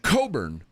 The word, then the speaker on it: Cockburn: But I just Well, her real last name is Coburn, but it's spelled Cockburn, right?